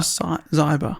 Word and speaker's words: Zyber: I would have said Zeba, but luckily Donna put in brackets, pronounced like cyber. Donna But- Zyber.